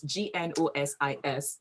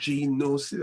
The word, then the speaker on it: Gnosis: Now, Gnosis is one of those words that you have to start with a G and yet the G is silent. So it's Gnosis. You know what? People always call it Gnosis.